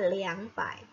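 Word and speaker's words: 两百: harus menggunakan kata liang jadi bacanya 200 itu bukan Rp tetapi adalah liang pai liang pai 2012 er jadi ini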